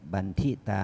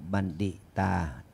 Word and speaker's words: บัณฑิตา: อเสวนา อเสวนา จะ พานัง เรา ออก เสียง บันทิต มัน ไม่ มัน ไม่ ถูก ต้อง เรา ต้อง ต้อง ออก เสียง บัณฑิตา ท่าน นั้น ลง นะ